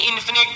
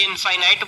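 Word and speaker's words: infinite: Closed नहीं होते, यानी इन्फिनिट तक जाते हैं। अब कुछ बच्चे इनफाइनाइट बोलेंगे तो भैया तुम गलत प्रोनाउंसिएशन दे रहे हो, जाके चेक कर लो गूगल पे, ठीक है।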